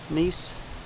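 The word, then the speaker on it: gneiss: America these cliffs are made of Precambrian cinetic nice that's how you pronounce at the ancient roots of the Adirondack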